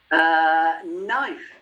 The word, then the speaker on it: knife: Knife. Knife. Silent K.